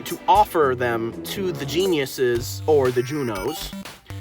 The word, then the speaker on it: genius: Um, and the guardian spirits were known as geniuses. No, I'm not kidding. And I looked up how to pronounce it. It's genius. It's literally the word genius.